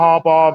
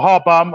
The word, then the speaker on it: Harbaugh: I don't know again why John Harbaugh mentioning or Harbomb I'm sorry I mispronounced his name Haraw bomb he's he's sitting